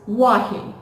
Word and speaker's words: Wahi: So my name is Wahi. My name is Wahi, right? So name, right? So A has to be little stretched.